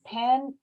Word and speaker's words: Penn: i can say is pen rhymes with deep end and when you're out